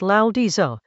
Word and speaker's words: Laozi: What Laozi, pronounced Laozi, is pointing at is not 5 specific colors, but the entire spectrum of visual stimulation.